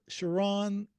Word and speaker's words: Chiron: link below and today we're joined by Stuart Charon the cruise guy am I pronouncing your last name correct you're doing great